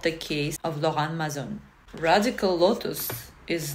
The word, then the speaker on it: Laurent Mazzone: And the first one that I would like to introduce to you is Laurent Mazzone. I pronounce it in a French manner because this is a French brand, and I hope Mr.